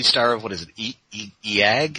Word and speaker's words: Eega: Also the star of, what is it, Eag? How do you pronounce that? Eega!